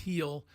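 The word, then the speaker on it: Gil: the Year heel uh spelled g l but pronounced heel uh becomes the 10th Yankee to win rookie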